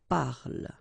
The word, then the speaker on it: parle: Okay, so elle parle, parle. And then the last thing here that you will hear is the l, l, l.